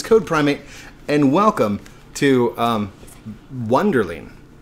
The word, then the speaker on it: Wunderling: primate and welcome to wonder lean or aka bundling as it's pronounced from the trailer wonder they so we